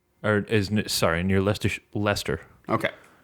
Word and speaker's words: Leicester: Or isn't Sorry, near Leicesters Leicester. Okay. It's pronounced Leicester, if I remember my football correctly.